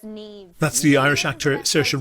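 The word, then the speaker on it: Niamh: Does anyone know how to pronounce that in the audience? How? Taig. Taig? Yeah. Neve. What? Neve. Nave? Yeah. But it's Neve.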